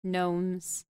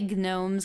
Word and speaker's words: gnomes: spelling was called like gnomes rather than gnomes okay I I don't want to say gnomes because that's not how you pronounce gnomes but you know the silent G okay you're character in